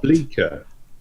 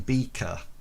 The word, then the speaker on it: Bleeker: Bleeker. Yeah, because you keep saying Beaker. I don't. I keep saying Beaker. No, you keep saying Beaker. You keep saying Mr. Beaker.